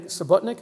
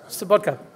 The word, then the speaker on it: Sobotka: Let me commend him, Mr. Wolfgang Sobotnik. Am I pronouncing that right? Yeah? Sobotka, who is an amazing person who brought parliamentarians from around the world for a conference, a terrific conference.